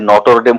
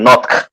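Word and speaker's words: Notre: আছে বুঝছেন, হুম, হুম, এনওটিআরই, যেমন এনওটিআরই বা নট, এই যে এনওটিআরই নথ, আমরা মূলত ফরাসিরা বলে নথ, আর এই এইটাকে অন্য অন্য ইংলিশ ভাষীর অনেকে ওই নথ না বলে ওই নটর বলে যায়।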